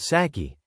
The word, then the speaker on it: sake: It is more palatable to most foreigners than the Japanese sake, pronounced saki, which tastes like a mixture of kerosene and onions.